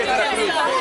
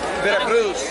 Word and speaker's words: Veracruz: En primer lugar, en primer lugar, no se dice Veracruz. Veracruz.